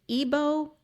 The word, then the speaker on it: Igbo: what it is called an Ebo Eagle. I hope I say that right. Mask. I'm This is wondering the if it's only Igbo. one. It's it's Eagle. Ebo Okay.